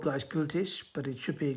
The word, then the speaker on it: Gleichgültig: If you're German, you'll pronounce it Gleichgültig, but it's a case of this is the difficult thing. You don't think, can I actually change the stress on the syllables in this language?